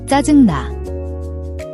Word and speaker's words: 짜증나: 짜증나.